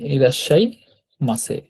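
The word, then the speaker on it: いらっしゃいませ: এই কারণে তো ইরাশাই এই ডাবল উচ্চারণ হবে এই সা কথাটা আর কি এটা তো যুক্ত বর্ণ না যুক্ত বর্ণটা ডাবল উচ্চারণ হচ্ছে আর কি ইরাজশাই মাছে মাছে এখানে দেখেন ইরাশাই মাছে ইরাশাই মাছে মানে হচ্ছে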